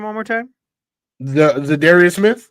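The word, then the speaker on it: Za'Darius: Zadarius Smith. Oh, Zadarius. I kept hearing Larius in my I'm like, "Who the hell is Learius?" Zidaria, you said it right. My brain didn't hear it. Zidarius. Yes. Yes.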